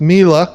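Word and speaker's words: mille: talking about earlier he misspoke and said it was cost per mil it's Mila say it right Bob but the the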